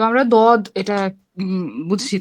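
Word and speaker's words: ضاد: মুখের মধ্যে দদ, একটা ভারী ভাব, তাই না? হ্যাঁ, হ্যাঁ, দদ, বদ। দদ। হ্যাঁ, শেষে ওই যে সূরা আপু শেষে বাতাস বের করে ফেলা যাবে না। বদ। দদ, কারণ দদ উচ্চারণ করে শেষে দাল আছে, তো দাল তো আবার কলকলার হরফ, হুম।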